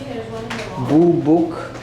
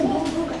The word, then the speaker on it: boobook: So this is a boobook. I hope I got that right. Owl. How do you pronounce that?